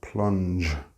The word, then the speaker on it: plunge: Now notice the pronunciation of plunge. You must pronounce that /dʒ/ sound.